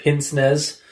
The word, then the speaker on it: pince-nez: So pince nez, or apparently as it is pronounced in French, pince-nez, is a style of